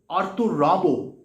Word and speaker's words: Arthur Rimbaud: So how it is Arthur Rimbaud? That is the French pronunciation, and French যেহেতু H-টা silent, so it is Arthur.